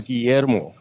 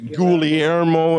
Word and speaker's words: Guillermo: so fed up that they were saying things like oh cool ii-era mo and the cool air mo I thought that's ridiculous